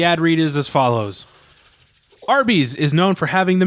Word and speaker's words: Arby's: I've never heard of Aruba's. No, it is. It's pronounced Arby's.